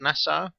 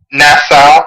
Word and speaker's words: Nassau: York to this at the Nassau Coliseum is how you say it NASA NASA yeah and there was around